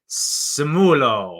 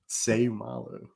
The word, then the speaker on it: Seumalo: to mispronounce Uso's name it's gonna be like Uso Simo or something also you are this close to actually butchering the name too when you said it Uso seumalo seumalo and then honorable men I